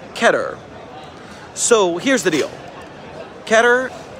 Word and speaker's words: Keter: of mine who does, every time I tried to say Keter, He says I'm not saying it right. Keter. It's something like that. But I don't have the right tongue jujitsu to pronounce it correctly. So I stick with keter like better.